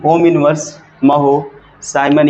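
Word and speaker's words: mho: इसी को आप ओम ओम की जानते हो स्पेलिंग ओ एच एम होती है इसका उल्टा करो क्या हो जाएगा महो हो जाएगा या इसी को हम लोग ना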